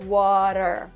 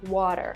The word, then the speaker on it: water: say water we like we don't even say t we say R like water water it's just interesting to